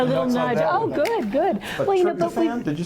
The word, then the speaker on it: tryptophan: But tryptophan? Did you say tryptophan?